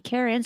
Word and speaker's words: cairns: that they believe an enchanted Stone among the Karens on top of the mountain could swallow a